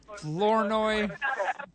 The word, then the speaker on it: Flournoy: Is that how you pronounce it? Flournoy.